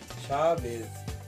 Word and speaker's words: Shawaiz: शावेज़ नाम का spelling है SHAWAIZ, शावेज़।